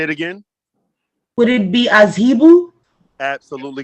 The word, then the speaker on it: Azhebu: Would it be Azhibu? Absolutely correct. You are absolutely correct. How do we spell that?